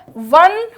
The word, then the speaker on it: won: विन word first होती है, वन और वन, इसका प्रोनाउंसिएशन वोन नहीं होता है, वन होता है। ONE का जो प्रोनाउंसिएशन है वही प्रोनाउंसिएशन WON का होता है।